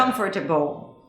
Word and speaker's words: uncomfortable: So if you read it phonetically, it would be uncomfortable, right? Oh, yeah. Uncomfortable.